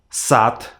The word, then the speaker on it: сад: So you too from now on should not say these letters in the very endings of words, but you need to change them on their voiceless pairs, their counterparts from column 2.